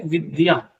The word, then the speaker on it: विद्या: बीच में बताते रहेंगे ये ये है आधा द होता है और यह इसके अर पूरा होता है तो इसका शुद्ध उच्चारण होता है विद्या ठीक है इसी से